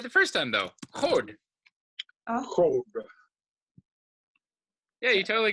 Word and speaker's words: HoD: I heard the pronunciation like more like hold, oh, and like more round. Oh, that's better. I just thought that it's sometimes pronounced a bit like a diphthong Okay. because it's more like an English oh.